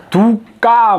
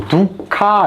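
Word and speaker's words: dukkha: 그러니까 뭐 이 빨리어 발음은 두까 뭐 이렇게 읽기도 하고요. 이게 뭐 정해진 그게 없습니다. 뭐 두카 이렇게 읽기도 하고요. 여기처럼 두까 이렇게 읽기도 합니다. 뭐 두카 이렇게 읽습니다.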